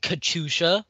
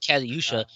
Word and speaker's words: Katyusha: are discussing tornack and kachusha pronouncing it correctly this time because apparently last time when i called it catayusha you guys blew your